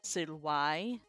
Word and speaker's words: silvae: Well, so Silvar is how we would say it now, but Silvar is the classical pronunciation for forest. Silvai, multiple forests.